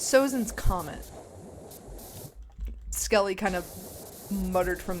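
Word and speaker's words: Sozin's Comet: Also, it's Sozin's comment. Skelly kind of muttered from the other room that I mispronounced the Fire Lord's name or whatever.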